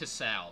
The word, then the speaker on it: Hisao: And it's pronounced Hisao, by the way.